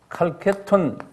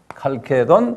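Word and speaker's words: Chalcedon: 그래서 이제 451년에 칼케톤 공회라고 그래요. 상당히 유명한 공회예요. 칼케돈 또는 칼케톤, 칼세돈 여러 가지를 발음하는데요.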